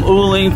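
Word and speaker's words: uling: ooling for the grill now i said it right that time it's called ooling which is charcoal i usually say canding which is a goat but for some reason i get those terms mixed up i mean you can't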